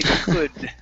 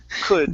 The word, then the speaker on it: could: instead of saying cool the L is silent we say could could the same mistake that